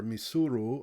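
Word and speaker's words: Mysuru: to the indian navy this is the mysore or misuru hopefully somebody from karnataka can make sure that i got the pronunciation correct on the native name of the city but in any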